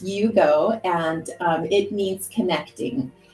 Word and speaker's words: Iugo: yeah right it yes it's so it is pronounced Yugo and um it means connecting connecting um just